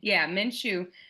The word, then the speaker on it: Minshew: I don't want to mispronounce that. It's Minshew.